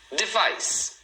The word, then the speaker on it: device: Device. Device. Então, duas sílabas também, ó. Device. E a segunda é a mais forte.